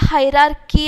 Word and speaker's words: hierarchy: अ हायरार्की इज, देखो इसका ची नहीं आएगा, इसका क्या आएगा, हायरार्की आएगा। प्रोनाउंसिएशन में अभी आपको बताती हूँ कि इसका क्या आएगा, हायरार्की।